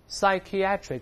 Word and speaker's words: psychiatric: 声来念 psychiatric，注意重音后移了 psychiatric，表示 relating to